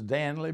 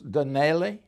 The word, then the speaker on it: Danley: Well, Danley is chewed up like a machine. They look at it like it's a wild name. If it's D-O, Donley, they could pronounce it just like that. Danley was Danelli and everything else.